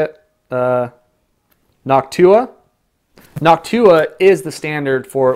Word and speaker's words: Noctua: the noctus or how do you say it Noctua noctua is the standard for it when it